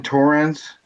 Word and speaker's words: Torrens: The J-Rock, the Jonathan Torrens.